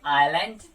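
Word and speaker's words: island: है वो ये है, अगर एस से पहले आई लेटर आता है तो उस कंडीशन में एस जो है आपका प्रोनाउंस नहीं होता है, जैसे आइलैंड या फिर डैबरी। तो इस कंडीशन में आपको एस नहीं बोलना होता है, बाकी सभी जगह ऐसा बोलेंगे।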